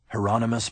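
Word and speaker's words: Hieronymus: Heronomous Bosch rhymes with anonymous.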